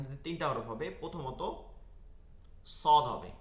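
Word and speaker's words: صاد: প্রথমত সদ হবে, কি হবে, সদ। সদটা দেখেন, এটা মোটা উচ্চারণটা কি শোনা যাচ্ছে, স, স, চ, স, মোটা উচ্চারণ শোনাচ্ছে, সেহেতু এইটা দাঁতের ভিতর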